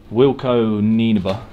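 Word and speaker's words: Wilco Nienaber: one of them being so wilco ninaba is how you pronounce it i think that's right it's the guy that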